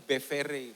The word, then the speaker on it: Bevere: Tulisannya Bevere, bacanya John Bevere.